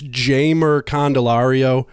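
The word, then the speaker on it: Jeimer Candelario: with a high well apparently it's jammer candelario I don't know how much I'm buying that since there's no J in the Spanish language but I'm hearing everybody pronounce it J Merck and Ilario either way kids a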